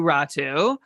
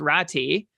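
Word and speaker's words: Räty: the last time, like in the official NHL pronunciation guide, it is like it's spelled out or pronounced out as Rati, which means that Atu has asked, like it mentioned to North American media, like how do you want your name pronounced? That's what he's chosen.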